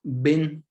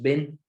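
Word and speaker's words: בֵּין: Y es bin, con B grande, o B de bueno, bin. Y hay otra palabra que es ben. Igual se escribe igual, con B grande, con B de bueno, pero es ben. Y esa significa entre o seleccionar.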